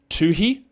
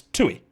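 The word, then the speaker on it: Toohey: I haven't heard an American try to pronounce it. Tuhi. Tuhi. How do you Yeah. How do you pronounce it? Because it's Tui. That's how it's pronounced. Alex Tui.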